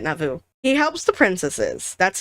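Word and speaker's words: Navu: We learn Blue Rabbit's name is Nauvoo, N A V U. Nauvoo. I'm pronouncing it Nauvoo.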